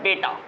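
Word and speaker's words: beta: कोई कोई इसको कोई पढ़ लेगा बेटा पढ़ लेगा, लेकिन इसका बीटा नहीं है, इसका बेटा नहीं बोलना है, बीटा कहना है, बीटा, ओके, बीटा, और इसको अल्फ़ा।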